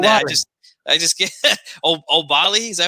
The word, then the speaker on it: Oubaali: I just get Oubaali.